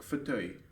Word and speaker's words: fauteuil: So, fauteuil. but yes, chair or armchair is pronounced like fauteuil.